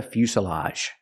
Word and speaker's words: fuselage: Pronunciation. Make the u sound. U few. Fus. Fusa. The s is a true s plus the short sound. Uh fusa. Fuselage.